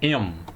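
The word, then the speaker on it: אֵם: A palavra em hebraico, né, que significa mãe, tem uma sílaba só, que é a sílaba em. É a sílaba tônica, a sílaba mais forte. E se vocês notarem aqui na primeira letra da palavra, tem um tsere aqui, ó. e representa um E, é uma vogal completa.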